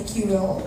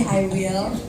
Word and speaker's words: iWIL: Karena jangan I Will bacanya ya, Iya. lagi Q Will, beda ya. Ini I Will.